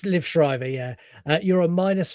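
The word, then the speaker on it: Liev Schreiber: Uh, Lib Shrider. You're a minus. I don't know if I pronounced that correctly, but you can definitely give me that. It's Liv Shrivever.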